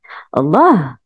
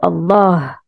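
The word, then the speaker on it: الله: ça veut dire que à la base ce mot ne s'écrit pas avec la prolongation mais elle se prononce toujours avec la prolongation l'exemple le plus flagrant c'est le nom d'Allah Allah on dit toujours Allah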